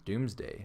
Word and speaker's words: Domesday: doomsday might miss domesday sorry i've been saying doomsday but it's domesday so domesday is the old-fashioned spelling of the words doomsday so it is probably pronounced doomsday some people think it